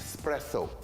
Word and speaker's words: espresso: fresh from stomach yes this is espresso not espresso espresso it's not spelt with an x okay i've done that